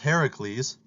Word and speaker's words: Heracles: And so in Greek mythology, Hercules, or sometimes pronounced Heracles, was the demi-god, son of Zeus and a mortal woman.